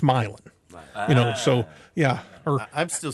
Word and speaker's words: Milan: Or if you say Milan, no, that might be in a foreign country, Milan, but here it's Milan.